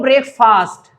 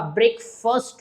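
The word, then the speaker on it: breakfast: और आपका करेक्शन करें आप कह रहे हो ब्रेकफास्ट ब्रेकफास्ट नहीं होता ब्रेकफास्ट होता है क्या होता है तो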